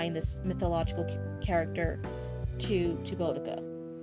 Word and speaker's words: Boudica: storytelling, a reference to Boudica? Is that how you say it? Let me look up how to say it. Boudica. Yeah, Boudica. I think you can just reference that.